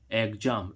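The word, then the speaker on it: exam: अब देखो इसमें इस एक्स का उच्चारण क्या निकल रहा है? जैसे ही हम इसमें देखें ई एक्स एम एग्जाम एग्जाम means क्या होती है?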